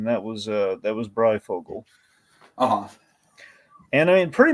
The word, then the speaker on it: Breyfogle: Norm Breyfogle, or Breyfogle, however you like to pronounce it. Uh, Adam Beechen kind of pronounces it Breyfogle, and I I'm kind of inclined to kind of err on that side, cuz he worked with him.